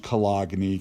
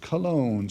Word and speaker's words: cologne: it's heterogeneous okay number five that is not pronounced Kalani kiddos it's pronounced Cologne so imagine spraying your favorite Cologne on before